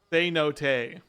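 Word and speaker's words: cenote: to help me Google oh God the American pronunciation say no day say no say no day say no say no day oh I guess because it's a Spanish word I always thought it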